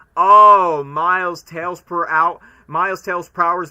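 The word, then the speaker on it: Prower: did not understand by saying oh miles tales per hour miles Tales PR hour is supposed to be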